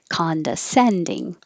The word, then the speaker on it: condescending: to watch my accent condescending the c-o-n sounds like khan ah the stress is